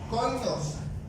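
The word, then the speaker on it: κοινωνός: La palabra compañeros en griego se pronuncia koinos, que significa socios o asociados o cómplices.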